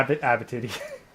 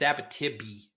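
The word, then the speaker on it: Abitibi: Abot titty. You keep saying it wrong because it's abotibby, but whatever.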